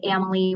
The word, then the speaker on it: Amalie: We always say Amalie rhymes with family. So there you have it. It's just that easy, right? Amalie, like family.